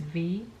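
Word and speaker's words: Vy: each other right so my name is V it's like the letter it's spelled v y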